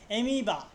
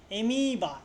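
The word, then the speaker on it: amoeba: এমিবা এমিবা দেখ ওইটা দীর্ঘের মত আসছে এমিবা মানে কি ক্ষুদ্র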